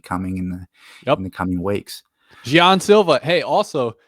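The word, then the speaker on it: Jean Silva: It's not Gene. And I looked up Bruce Buffer, John A. Martinez. They're saying like Gian Silva.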